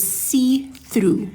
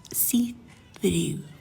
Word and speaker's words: C-THRU: The color that I used here is called See Through. It's from the Hema Free range. So how did they spell it? C-THRU. See Through.